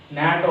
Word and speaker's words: NATO: This abbreviation pronounced as a word.